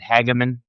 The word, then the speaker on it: Hageman: This would be Harriet Hageman. Is that how you pronounce the Yeah.